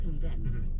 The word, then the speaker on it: condemn: the government's response right there's an m and an n in theing of condemn tell us this yeah uh c o n d MN but that last n is silent yeah simply means you're